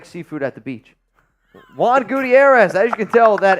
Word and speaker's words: Gutierrez: Juan Gutierrez. As you can tell, that H is silent.